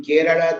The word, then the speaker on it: Kerala: uh, that in Ivadu, the L is capital. That denotes a la. For example, in Kerala, there is a la.